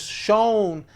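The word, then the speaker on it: Schön: Shown is SCHON, and Design is, they spell it DSGN.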